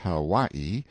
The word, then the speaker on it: Hawaii: off mounted on my Noble Steed Hawaii pronounced how y e stress on second syllable a beast that cost